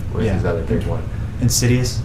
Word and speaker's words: Insidious: Insidious. Insidious. Sorry. Why did I call it Insiduous? It's one of those things where you always you pronounce it only to yourself and then you realize that you've been pronouncing it wrong the whole time.